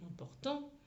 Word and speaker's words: important: Pour, parce que l'accent tonique est sur cette syllabe-là, sur la syllabe du milieu.